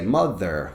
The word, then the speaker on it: mother: to teach them mother because of the pronunciation of the center of this word with the th it's important for them to practice so i want them to say mother mother mother and really